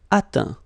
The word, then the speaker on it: atteint: Atteindre, atteint. Éteindre, éteint. Feindre, feint. Peindre, peint. Teindre, teint. Okay, as usual, final T not pronounced.